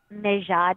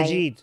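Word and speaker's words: Maajid: the Southern Poverty Law Center had Mejad Nawaz. Did I Majid.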